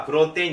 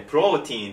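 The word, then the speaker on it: protein: のは英語です英語の発音ではぷろんてぃんじゃなくてプロティンと言うんですけどもプロテインです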